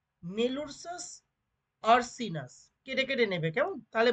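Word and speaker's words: Melursus ursinus: মেলুরসাস আরসিনাস। কেটে কেটে নেবে, কেমন? তাহলে বানানটা কেটে কেটে নিলেই তোমরা উচ্চারণটা করে নিতে পারবে এবং স্পেলিংও মনে রাখতে পারবে।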